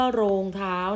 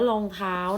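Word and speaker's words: รองเท้า: ภู เขา รอง เท้า อย่า เรียก ว่า โรง เท้า นะ คะ นัก เรียน มัน อ่าน ว่า รอง เท้า นะ คะ มี นัก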